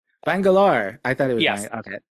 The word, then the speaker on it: Bangalore: Uh so, but only one correction. Uh the city that I'm from is Bangalore. Bangalore.